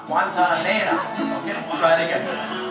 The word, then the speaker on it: Guantanamera: And don't end your syllable on a consonant, end it on the vowel. Guantanamera.